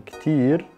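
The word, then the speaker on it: كتير: Same with Ktir. So in spoken Arabic, we're saying Ktir. And in Fusha Arabic, it's the way you would say this is Kathir, and that's spelled like this.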